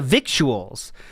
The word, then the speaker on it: victuals: It comes from the victuals, which is pronounced almost like vittles.